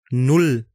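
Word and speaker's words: null: हैं जीरो के साथ जिसे जर्मन जुबान में नुल कहा जाता है एन उ एल एल इसकी स्पेलिंग है नुल नुल के बाद आइंस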